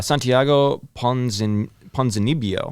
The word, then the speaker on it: Santiago Ponzinibbio: Santiago Ponzinibbio.